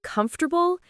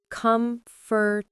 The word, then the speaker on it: comfortable: All right, pronunciation time. My favorite. The word comfortable is not comfortable.